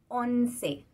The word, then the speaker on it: once: Eh bien, le numéro 11, ça s'écrit presque comme en français, mais on change le Z par un C et on prononce le E final. Once.